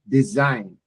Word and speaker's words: design: Uh the designate to deliver efficient design the G is silent design.